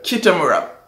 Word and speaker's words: Kitamura: Kitamura säger vi att det uttalas.